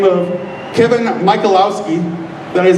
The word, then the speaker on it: Michalowski: To get a second opinion, I reached out to a man by the name of Kevin Michalowski. That is how you pronounce his name, but he's the executive editor of Concealed Carry magazine.